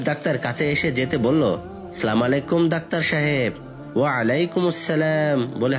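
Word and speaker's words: السلام عليكم: তাদেরটা শুনে শিখেছি তাদেরটাও ঠিক হয়নি আমি শুদ্ধ উচ্চারণ করছি শিখে নাও আসসালামু আলাইকুম নাদের আলীর স্মরণশক্তি ভালো মনে মনে কয়েকবার উচ্চারণ করে বলল আসসালামু আলাইকুম হাবিব ডাক্তার আবার মৃদু হেসে বলল হ্যাঁ এবার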